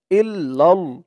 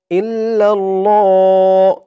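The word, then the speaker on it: إلا الله: ইল্লাল্লাহ ল বলতে হবে অনেকে আপনারা উচ্চারণ করেন লা ইলাহা ইল্লাল্লাহ ইল্লিল এমন উচ্চারণ করে থাকেন তো এমন ভাবে যদি উচ্চারণ করেন সওয়াবের বদলে আরো গুনাহ হবে তাই সঠিক উচ্চারণ করতে হবে লা ইলাহা ইল্লাল্লাহু ইল্লাল্লাহু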